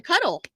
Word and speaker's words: K Huddle: The cuddle. The H is silent.